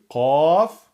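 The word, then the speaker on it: ق: Et là, c'est la lettre emphatique Qaf, qu'il faudra donc prononcer Qa, Qo, Qi.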